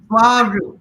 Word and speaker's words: Swaroop: Swaroop. How do you say it? Swaroop. Just think the roop.